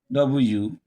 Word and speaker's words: worm: For example, when you have WORM, I believe you will say worm. No, don't say worm. Say worm, worm, worm. You pronounce the OR as a long worm, worm.